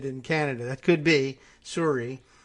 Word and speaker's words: Sorry: Suri is the real pronunciation.